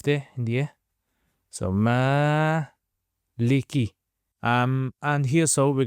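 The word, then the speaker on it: مَالِكِ: So m leaky.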